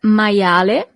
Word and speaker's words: maiale: You see, as we have seen with the alphabet, the letter I is pronounced as I. Maia. And then the letter E at the end is always pronounced as E in Italian.